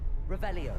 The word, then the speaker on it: Revelio: like the r you gotta say it right revelio then you can see the chest whoa lumos